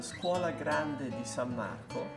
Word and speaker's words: Scuola Grande di San Marco: So tell me again about your institute, how to say it well. Yes, it's called the Scuola Grande di San Marco. Scuola Grande di San Marco.